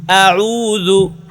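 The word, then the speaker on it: أعوذ: দু, এবার দু, দু মোটা করা যাবে না, একেবারে পাতলা, দু, দু, দু। লু, দাল পেশ দু, দাল পেশ দু, আউযু, আউযু, আউযু।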